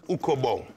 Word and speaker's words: Ukabong: Ukabong. Uka? Ukabong. How do you spell it, Narstie?